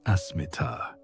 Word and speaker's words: asmita: The ancient texts have a specific term for this tendency: asmita, pronounced asmita, which is often translated as ego or I